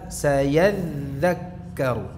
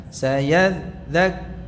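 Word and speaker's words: سَيَذَّكَّرُ: sayad sayadzakkaru bukan sayadzak bukan begitu bukan diputus suara dalalnya tapi apa sambung saja ini huruf rakhawah ya jadi dan pengucapannya lunak tidak usah ditekan-tekan berlebihan sayyadak nah ini kan ditekan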